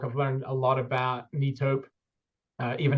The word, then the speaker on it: Netop: learned a lot about neop uh even how to pronounce it I was saying knop um yes it's a